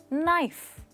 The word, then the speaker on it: knife: कोई वर्ड देखते हैं जैसे कि KNIFE, नाइफ, पर समझ नहीं आता कि इसकी स्पेलिंग और इसकी प्रोनाउंसिएशन में इतना अंतर क्यों है। दोस्तों वो इसलिए क्योंकि इंग्लिश में कुछ लेटर्स साइलेंट होते हैं, राइट।